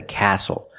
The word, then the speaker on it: castle: The T is silent with the spelling pattern S-T-L-E. Example: this is a castle. Not a castle, but a castle.